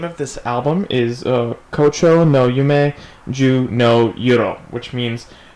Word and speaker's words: 胡蝶の夢: So the name of this album is Kocho no Yume Ju no Yuro, which means Phalaenopsis Dream, 10 Nights. It's, I guess, a type of flower, Phalaenopsis. Phalaenopsis Dream, 10 Nights. Anyway, Kocho no Yume Ju no Yuro is by a group called Audace.